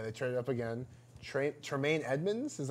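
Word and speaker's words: Tremaine Edmunds: up again yeah they turned up again shrimp Tremayne Edmonds is how you say it yeah linebacker from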